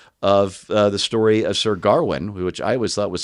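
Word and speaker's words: Gawain: It was this uh supposed to be this modern retelling of uh the story of Sir Garwin, which I always thought was Sir Gane, but it's pronounced Garwin properly.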